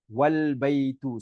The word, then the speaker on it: al-baytu: Example, when we say al-baytu. Okay, so al-baytu, okay, al-baytu is, and but if it is preceded by a wa, yeah, meaning and, the is dropped and the phrase is pronounced wal baytu.